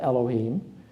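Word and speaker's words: אלהים: in fact is a plural in Hebrew it's pronounced Elohim and it's thought to be a plural of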